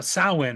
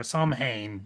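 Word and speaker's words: Samhain: I did this just you know it's not it's not really but there is I mean some you know sin or snee as some pronounce it.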